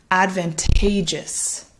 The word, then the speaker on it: advantageous: gets the stress here so we say this as advantageous advantageous so hopefully you can hear that stress falling on the third syllable advantageous da da da